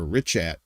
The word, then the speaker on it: Richat: It's very weird to pronounce. You'd want to say Richat or Richat, but it's a Richat structure.